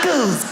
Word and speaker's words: knuckles: all the letters that why would a K BE SILENT? KICKERS. WHY IS it knuckles? Knuckles.